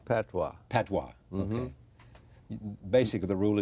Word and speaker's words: patois: No, I skipped, how do I pronounce this? P-A-T-O-I-S. Patois.